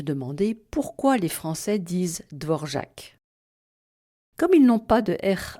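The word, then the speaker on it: Dvořák: dissociés et bien sûr ils mettent l'accent sur la dernière syllabe sans nuance de longueur devorc et c'est très bien comme ça. Il faut juste éviter de dire dvorac comme si le caron était purement décoratif.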